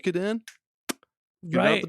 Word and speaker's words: Suikoden: Like kept calling it Sui Koden or Oh, dude, no. or like it's not like almost like chop suey, and I'm like Suikoden.